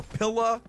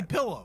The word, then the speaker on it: pillow: people in our family will pronounce the word pillow as either pilla or pillar, okay? Gonna be using that there pillar or pillar either way. Yeah, we don't say that. We say pillow.